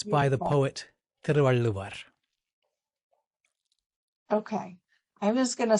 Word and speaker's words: Tiruvalluvar: Can you say the poet's name again, or the author, the poet of the Kural is Tiruvalluvar, which of course is quite a mouthful.